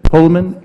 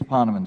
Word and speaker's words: Poneman: Pullman, how do you pronounce that? It's Poneman, sir. Poneman, thank you.